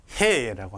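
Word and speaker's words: ה: 다음 자음은 해라고 합니다. 해. 우리말 히읗처럼 해 발음이 납니다. 흐 발음이.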